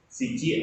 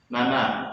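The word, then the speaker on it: 七: 7, shichi atau nana.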